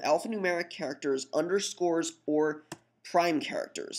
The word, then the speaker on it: prime: numeric characters underscores or prime characters single quotes we pronounce them Prime um or any symbolic